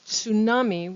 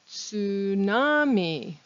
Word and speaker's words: tsunami: ts like they're spelled we can't pronounce the t so we just pronounce it with the s once again in line